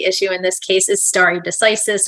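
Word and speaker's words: stare decisis: in this case is Starry decisis or stare diseases or however you want to say it it's Latin it's a dead language if you listen to the justices you can hear them pronounce it all sorts of different ways sometimes the same Justice different different ways I'm going to use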